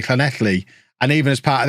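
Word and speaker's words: Llanelli: to learn to say Clan athlete and even as part of that I didn't learn to pronounce the double L's I just learned to pronounce that word like an English person trying to be clue hello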